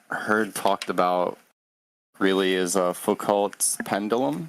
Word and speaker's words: Foucault: But one thing I've seen that I haven't heard talked about really is Foucault's pendulum. Foucault, am I pronouncing it correctly?